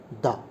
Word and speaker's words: the: তাহলে এটা যখন কনসোনেন্ট হবে, প্রথম অক্ষরটা, প্রথম লেটারটা, তখন উচ্চারণ হবে দা।